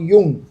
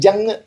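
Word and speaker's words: Jung: Sigmund ഫ്രോയിഡിന് ശേഷം അദ്ദേഹത്തിൻ്റെ ശിഷ്യനെന്ന് തന്നെ പറയാവുന്ന കാൾ ഗുസ്താവ് യുങ്, നമ്മുടെ പഴയ കൃതികളിലൊക്കെ അദ്ദേഹത്തെ ജങ് എന്നാണ്, ലീലാവരീസറൊക്കെ ആദ്യ പുസ്തകങ്ങളിലൊക്കെ അവരെ യുങ് എന്നുള്ളത് അത് ഉച്ചാരണ പ്രശ്നമാണ്.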